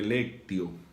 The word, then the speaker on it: Lectio: Ustedes notarán que se escribe lectio. En latín, la T se pronuncia como si fuera la C de casa. Por eso, Lectio Divina, como si fuera una doble C.